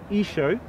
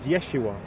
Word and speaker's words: Isho: So one had Isho, and the other still kept it as Yeshua in the Western Syriac. But what you clearly see here, he's saying that the spelling was the same, but the pronunciation was different.